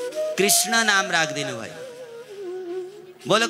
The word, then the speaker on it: कृष्ण: तर भन्न पो उच्चारण गर्न हो छ सबै सबै सबैले कृष्ण भन्न जान्दैनन् कसैले कृष्ण भन्छन कसैले कृष्ण भन्छन कसैले किशन भन्छन वास्तविक कृष्ण त्यो ण छ र क को ऋडण बोल कृष्ण कन्हैया लालको जय जय